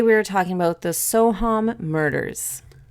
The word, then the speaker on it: Soham: are talking about the sohom murders soham that's with a long a yeah at 11 45